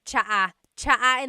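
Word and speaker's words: tsaa: good almost polyglot said it's like the word cha cha inog is tea like the tea that you drink drink and it's spelled TSA a cha cha that's such a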